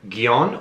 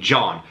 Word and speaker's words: Gjon: returning from last year guyon or somewhere i read that his name is pronounced like the english name john please write me in